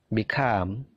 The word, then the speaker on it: become: Become. Begin. Jadi perhatikan stressingnya. Stressingnya punyanya come, punyanya gain, punyanya leave.